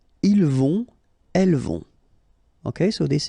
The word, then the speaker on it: vont: Then, ils vont. Final T not pronounced.